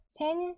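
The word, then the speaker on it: 先生: 소리가 두 박이 되겠죠 그래서 세은 세이라고 발음을 하면 안 되고요 센세 세 센세 그리고 시계도 토케 있데요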